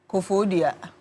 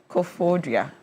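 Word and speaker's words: Koforidua: Well, thank you very much for calling us from Kofodia like that's the appropriate pronunciation. Kofodia.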